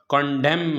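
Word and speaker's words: condemn: इसी तरह कंडेम है, ये एम के बाद एन है तो ये भी एन साइलेंट है।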